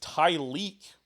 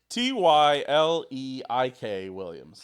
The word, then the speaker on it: Tyleik Williams: One is Tyleek Williams. Spell it. Is it Ty'Leek? That's got to be racist. One more time. Tyleik Williams.